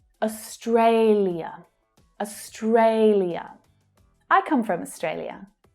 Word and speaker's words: Australia: Many Australians are pretty lazy with their pronunciation and with their syllable stress. So you'll probably just hear Australia. Australia. So the final ia is reduced down to ya. And sometimes even the first syllable gets completely dropped.